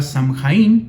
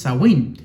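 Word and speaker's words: Samhain: que se llamaba zawin algunos dicen que era samhein pero la pronunciación correcta es zawin porque samhein era el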